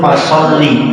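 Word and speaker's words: فَصَلِّ: Nah ini yang paling kathah klentun niku di huruf fasholli. Fasholli niku fi'il amr. Niku cara bacanya mboten wonten huruf ya di belakang huruf lam. Niku cara bacanya harus pendek.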